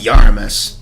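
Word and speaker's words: Iarumas: have to actually like read his name it's pronounced yaramis but I just I I can't think of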